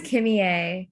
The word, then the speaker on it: Kimmy A: My name is Kimmy A, kind of like Kim and Kanye, but not quite.